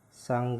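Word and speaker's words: 산: Terus yang keempat yaitu ada siet, s, a, sa, ada konsonan akhir nien, n. Berarti dibaca san. Ya, dibaca san.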